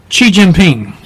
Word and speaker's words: Xi Jinping: It's Xi Jinping. There you go, Xi Jinping. My Chinese isn't that good. Oh, yeah, but once you get started, but boy, the you're XI is pronounced Xi.